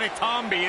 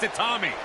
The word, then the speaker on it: Itami: It's not Itambi, it's Itami.